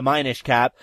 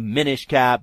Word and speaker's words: Minish Cap: I kept figuring it was like the Minish Cap, but the Minish Cap is apparently the pronunciation.